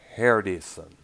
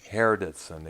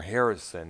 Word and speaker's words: Hardison: Hardison. You know, it's hard to pronounce. You can't help but become confused by the way it's pronounced here because Hardison is often mistaken for Harrison at times, you know.